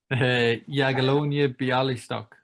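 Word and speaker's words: Jagiellonia Białystok: and can you please tell me how to pronounce that word yagalonia biali stuck okay perfect the see i'd say this i'd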